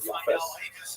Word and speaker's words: Japheth: And I should pronounce that, by the way, the Ashkenazi pronunciation, Japheth.